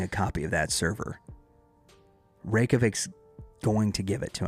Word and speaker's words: Reykjavik: give it to me Reykjavik Reykjavik yeah Reykjavik I'm sure it's still not perfect but that's r-e-y-k-j-a-v-i-k Reykjavik yeah Metropolitan along those